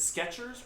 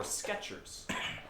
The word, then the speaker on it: Skechers: Skechers with a T or Skechers? I had Skechers with a T. That's what I remember. It's not.